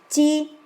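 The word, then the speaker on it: 机: Es pictofonético porque viene de mu, que es madera, esta parte de aquí significa madera, y su pronunciación se la da la parte de la derecha, que es chi.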